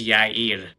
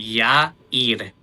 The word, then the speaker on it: Yair: I didn't want to overcorrect it, but technically the name that you say, that's my middle name. It's actually Yair.